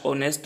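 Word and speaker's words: honest: first exam please dash ऑनेस्ट man always speak truth अभियान पीडीएस के बाद जो नेक्स्ट वर्ड आ रहा है यहां पर एच को साइलेंट किया गया है और हम लोग और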